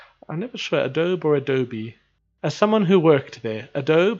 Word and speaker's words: Adobe: You pronounce the E, okay, so Adobe.